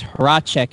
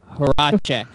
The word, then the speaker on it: Horacek: It's Horacek, everybody. Remember, Horacek. It's Horacek. Why do you have so many problems pronouncing your name?